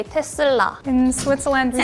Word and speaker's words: Tesla: In the USA we would say Tesla.